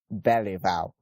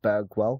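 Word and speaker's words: Bergwall: here we go - I think it's pronounced Stewart barely about even though it looks like it should sound like Berg well and his middle name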